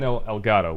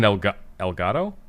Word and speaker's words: Elgato: I love how when I pronounced it in Spanish, I pronounced the T, but when I said it with my normal accent, it sounds like a D.